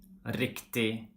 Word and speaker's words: riktig: We don't pronounce the G when it's in a combination with I, like for example, billig, riktig, viktig.